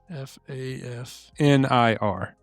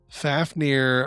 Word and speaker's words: Fafnir: It's spelled F AF. F AF N I R.